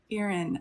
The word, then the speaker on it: Erin: Okay, Erin is pronounced Erin.